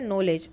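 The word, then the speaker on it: knowledge: for example in words knife के जो है नॉलेज एंड नो the first letter के इज़ not pronounced let अस टूक एज अ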